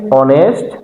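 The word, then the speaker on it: honest: এখানে অনেস্ট ম্যান। অনেস্ট ম্যান উচ্চারণটা কিন্তু আসতেছে অনেস্ট ম্যান অনেস্ট ম্যান অ উচ্চারণটা আসতেছে অ এখন আমরা দেখি এই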